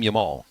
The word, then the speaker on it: Jamal: You actually are supposed to pronounce his name Yamal.